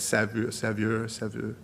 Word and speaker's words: Saveur: How he swished his wine in his mouth, a la I don't know how to say it, Saveur, French, S-A-V-E-U-R.